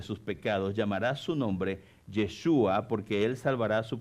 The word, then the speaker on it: Yeshua: llamarás su nombre Jesús el nombre Jesús en hebreo significa o se pronuncia yeshua en hebreo y significa